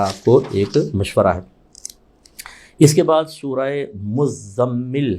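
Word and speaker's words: مزمل: पर भी तजी है मुजम्मिल अब चूंकि यह मुजम्मिल इस तरह मुजम मुजम्मिल मीम पर तो पढ़ लेते हैं ज प नहीं पढ़ पाते तजी तो गलत मशहूर हो जाता है मुज स्पेलिंग भी ऐसी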